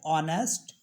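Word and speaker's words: honest: देख लेते हैं जिनम एच साइलेंट होता है जैसे ऑनेस्ट नेस्ट नहीं पढ़ते उसको बोलते ऑनेस्ट एयर are honour गोस्ट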